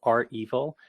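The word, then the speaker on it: REvil: other things but i i think it's pronounced are evil and i say that because it's acura brandy they surely are evil hahaha sorry about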